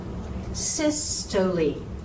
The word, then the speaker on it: systole: Systole. Not systole. Systole.